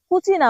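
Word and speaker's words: cucina: কুচিনা বলা হয়।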